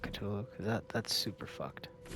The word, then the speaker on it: Cthulhu: that's it might be katulo that's that's how you pronounce it right katulo or is it cthulhu i think it's cthulhu but i think we're cthulhu